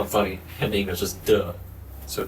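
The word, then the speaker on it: 德: funny in English is duh. So d e kind of pronounces it as d u h duh.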